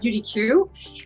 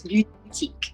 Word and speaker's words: Beautyque: in the beginning said beauty queue and that's the thing you know when we name the company but it's beautique like beauty boutique right thank you for